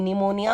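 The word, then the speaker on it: pneumonia: Cases में तो भी पी साइलेंट होता है, हमेशा नहीं, कुछ केसेस में। ओके, तो एग्जांपल्स हम पढ़ते हैं। कूप, कबर्ड, निमोनिया, जैसे मैंने कहा था पी निमोनिया, इट्स निमोनिया।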